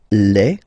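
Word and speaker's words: les: the article here becomes Le so that's the plural form okay Le and then same rule you just write leave and then you put S at the end but then you don't pronounce it so it's quite interesting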